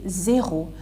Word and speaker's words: zéro: In English, as you say 0, but in French you say zéro, because E for E. You pronounce E as E in French, so zéro, right?